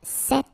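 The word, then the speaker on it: cet: if you listen carefully the masculine form here set and The Feminine form here set you write them differently but then you pronounce them the same way all right for the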